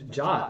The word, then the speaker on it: JWT: You can say Jot. Like I think that's the correct pronunciation. It just, I don't know. To me, it's amazing that the W turned into an O.